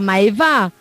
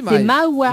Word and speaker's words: Maïwa: Non, c'est pas Maïva. C'est Maïwa.